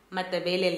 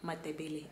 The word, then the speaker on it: Matabele: I pronounced it like a Tswana, Matabele. No. To my Botswana babes and niggas, it's not they. In Zim, it's Matabele. You know, it's the T, not the they.